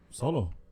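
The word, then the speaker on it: Xolo: do you pronounce it x-o-l-o yeah well so solo because Sochi is spelled with an X and you pronounce it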